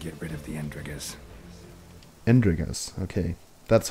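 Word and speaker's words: Endregas: Andregas, okay. That's how you pronounce it. Andregas.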